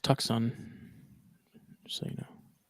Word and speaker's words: Tucson: So It's pronounced it's pronounced Tucson. Just so you know. Tucson, Arizona.